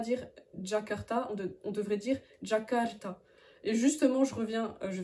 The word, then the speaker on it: Jakarta: ensuite tu vas voir la lettre J qui ne se prononce pas j comme jouet par exemple mais qui se prononce